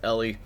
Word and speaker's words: Eli: I know the comments have, you know, let me know that it's Eli, but it rhymes with jelly, so it comes out as Ellie.